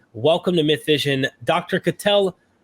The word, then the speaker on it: Katell: Katel. I'm trying. Correct me. How do you pronounce it? Katel.